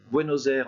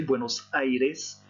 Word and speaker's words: Buenos Aires: Alors, attention à la prononciation. Buenos Aires en français, Buenos Aires en espagnol. N'oubliez pas de prononcer le i.